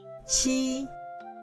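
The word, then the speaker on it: ㄑ: To pronounce these three notations, we have to clench the front teeth. Ji, ji, qi, qi, xi, xi, ji.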